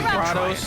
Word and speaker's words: Kratos: Kratos. That's hilarious. Don't overdo it. They did pronounce his name Kratos instead of Kratos in this game, but Don't overdo it.